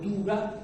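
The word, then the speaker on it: Dougga: mezclados todo eso de las famosas tuga o duga, según se pronuncie en la tradición latina o en la tradición árabe posterior, ¿verdad?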